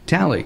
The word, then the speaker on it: Talei: Ben anyway gotcha and am I pronouncing your name right yeah absolutely tally you're one of the